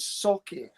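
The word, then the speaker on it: Sauchie: Um, but it's called si. So So if you can split that up into s a w k a y.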